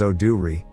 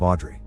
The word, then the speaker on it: Audrey: Park's house and asks to rent the room they're offering, telling them her name is Oh-do-ri, a mispronunciation of Audrey.